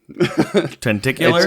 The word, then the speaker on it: tentacular: Tentacular. Oh, nailed God. it. Yeah. Walked right because way back okay, on is that it tentacle? Tentacle. Tentacle. Tentacular. Yeah, like a spectacle or a spectacular.